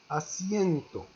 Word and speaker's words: asiento: Un autre mot, no confondas con, il ne faut pas confondre entre acento et asiento. Regardez bien la prononciation. Asiento, on prononce C con C, C con C, C. Asiento et asiento.